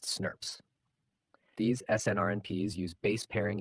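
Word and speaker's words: snRNP: The splyosome itself is a large complex made up of small nuclear ribboucle proteins, SNRPs, pronounced snurps.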